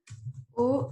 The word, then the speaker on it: aux: Even though there's an X at the end, I do not pronounce that X, okay?